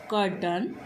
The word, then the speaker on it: croton: वो हमारे कौन कौन से हैं, कर्टन और क्लोन्स।